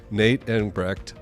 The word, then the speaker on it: Nate Engbrecht: But we're inviting Nate Engbrecht to the podcast.